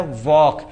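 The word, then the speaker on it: walk: वॉक। यानी के के पहले देख लो। यहां के के पहले भी एल साइलेंट हो गया।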